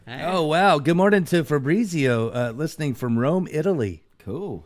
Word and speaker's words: Fabrizio: You're saying it wrong. It's Fabrizio.